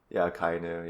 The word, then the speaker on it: Akainu: Akainu? Akainu, yeah.